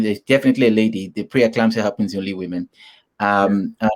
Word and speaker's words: pre-eclampsia: me pronounce that i don't know how to pronounce that oh yeah i think that one is pre-eclampsia pre-eclampsia okay pre-eclampsia okay please how can i normalize